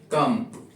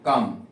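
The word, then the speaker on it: come: the silent ध्यान रखें कम सी ओ एम ई कम यहां पे ई का प्रोनंसिएशन नहीं हो रहा कम फेस नाइस राइट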